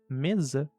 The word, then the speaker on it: mesa: Então, para as palavras casa e para a palavra mesa, como estão entre vogais, tem o som de Z, tanto em inglês como em português.